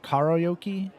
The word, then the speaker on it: karaoke: Pronounced like Kara, okay, instead of the way we say it. Kara? Karaoke?